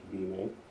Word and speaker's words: Bune: Uh since we're working with Bune, I pronounce Bune. Some people may pronounce Bimé.